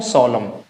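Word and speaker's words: solemn: इसको हम प्रोनाउंसिएट नहीं करेंगे। इसे क्या बोलेंगे? हिम। इसे क्या बोलेंगे? शलम। क्या बोलेंगे इसको? सोलम।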